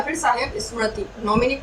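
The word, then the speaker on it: mnemonic: नॉमिनिक किसे कहा जाता है? नॉमिनिक की जो इंग्लिश स्पेलिंग होती है उसमें एन साइलेंट रहता है। नॉमिनिक यहाँ से एन से नहीं, एम से स्टार्ट होता है।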